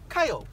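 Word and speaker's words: Caio: Kyle. Kyle, how do you spell that?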